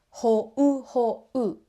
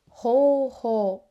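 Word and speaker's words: 方法: We don't say ho-u. We say ho-ho, extending the o vowel.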